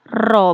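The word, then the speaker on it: ρ: kayak ro eh kayak ro kayak P dibacanya ro salah satu huruf Yunani keterangannya RO sama m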